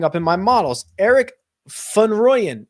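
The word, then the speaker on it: van Rooyen: in my models Eric fun royan if you want to pronounce it correctly it's more of a fun than a van South African wolf uh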